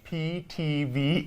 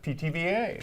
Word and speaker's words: Pithivier: good this is a French pastry called a pitiviera yes it's ptva if you know if you look at the uh what it looks like you'll go how do you pronounce that it's ptva ptva and it's it's pretty simple it's two